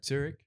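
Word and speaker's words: Zürich: Zurich, as they say from there. Zurich. Zurich. Okay. This is how the locals say it. Yeah. Zurich. Zurich. They don't do the sh in the end.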